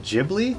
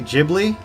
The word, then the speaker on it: Ghibli: said like sake um like the soft g-h sound to make a J basically all right this honeydew